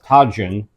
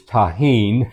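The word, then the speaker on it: Tajín: same seminar mentioned that a spice that I've been calling Tajin is tahen tah yes and I've totally forgot that J's are pronounced with an H sound correct so tahen tahen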